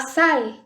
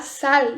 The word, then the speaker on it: sal: do Google Tradutor é treinar o L, que para nós no português tem o som de U. E se você falar com som de U, no Google Tradutor ele vai escrever com U. Então isso é bem bacana para vocês treinarem essa pronúncia. Então, por exemplo, la sal, essa sal, não é sal. La sal.